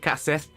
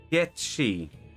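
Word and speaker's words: Cait Sith: game of hide and seek what's that it's pronounced she okay i have to remember that because i've always called it cassette so i'll have to remember that to try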